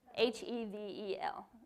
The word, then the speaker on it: hevel: all right so let's heavel h-e-v-e-l even though they didn't actually have those letters but hevel hevel okay so how do you